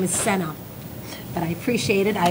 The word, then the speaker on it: Sanae: My name is Senna, but I appreciate it.